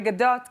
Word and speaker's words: Gadot: The Gadot can be better. Gadot. More T at the end.